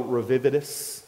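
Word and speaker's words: redivivus: the Nero revived myth Nero raw vividus I believe his how it's pronounced in the Latin in other words the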